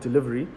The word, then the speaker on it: DLVRY: Anyway, I'm going to be sharing my next platform with you, which we're trying to create, which is called Delivery, which is spelled DLVRY, which is basically just a fulfillment center to be able to get merchandise from one place to another.